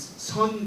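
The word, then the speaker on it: 선: See, Japanese Buddhism is known as Zen Buddhism, and it's their pronunciation. But in Korean, it's Sun Buddhism.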